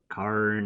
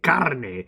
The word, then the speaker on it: carne: Carne asada. No. Carne. You gotta roll the R.